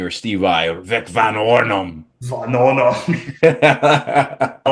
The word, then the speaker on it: Vanornum: How would you like to pronounce it correctly? Vanornum.